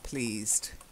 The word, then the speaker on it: pleased: But I hope you are pleased. So I've never been pronouncing the D. Oh. You can hear the D. Oh, yes, you do pronounce the D. The E is silent, pleased.